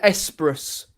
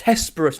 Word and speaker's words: Hesperus: They're actually Esperous. Dear, my dear. It's Hesperus, not.